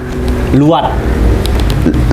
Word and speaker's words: luat: Luat. Luat. Luat. Luat. Luat. Namanya luat. Tulisannya LUAT. AT. Tapi dibacanya pakai W ya. Kayak ada W. Kayak ada W, luat ya.